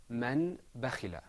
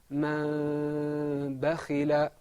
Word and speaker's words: من بخل: This next example is usually pronounced man bakhila. But inshallah, because after the noon we have a ba, we're going to say man bakhila.